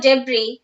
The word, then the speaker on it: debris: given in the textbook the letter s is not pronounced in the word debris here are some of